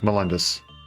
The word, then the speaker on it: Melendez: Melendez? Melendez. That's how it's pronounced.